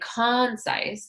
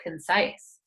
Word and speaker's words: concise: And we don't say concise, we say concise.